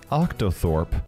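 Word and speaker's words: Octothorpe: #h haters great title although it's actually pronounced octo Thorp I'm sorry for nerding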